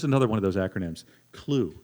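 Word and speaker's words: CLUWE: They've created an information hub, integrated thing they call, here's another one of those acronyms, CLUE, C-L-U-W-E. Now, I don't know, the W is silent, right?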